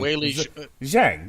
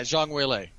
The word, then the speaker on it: Zhang Weili: Weili Zhang, yeah. Yeah, Zhang Weili.